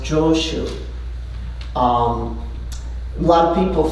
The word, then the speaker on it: Joshu: So chao jo um in Japanese is pronounced joshu.